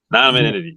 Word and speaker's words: anonymity: to tell you, I got to work on pronouncing that anonymous. Help me out, guys. Anonymity.